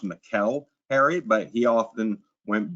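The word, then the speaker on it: Mikel: Now, it's properly pronounced Mikuel Harry, but he often went by Michael.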